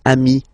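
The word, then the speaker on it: amis: But then technically you pronounce it the same way. So singular form amii plural form you add this s but it's amii as well.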